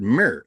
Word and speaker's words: mir: ancient egyptian uh word mir m r we pronounced it with like mirror because we put an e in because we know where